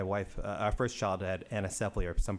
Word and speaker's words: anencephaly: My wife, our first child had anencephaly, or some pronounce it anencephaly.